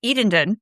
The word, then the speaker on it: Eatonton: Now, Alice Walker was born in 1944 in Eatonton, assuming you pronounce that with all the T's. Otherwise, it might be Edendon.